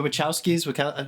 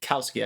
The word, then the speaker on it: Wachowski: How do you say Ch or K? No, you said it right. The Wachowskis. No, you said it right I'm really before. hoping. Which That's what said I it was right saying. the first I think time. I've been saying Kowski. I guess it's Wachowski.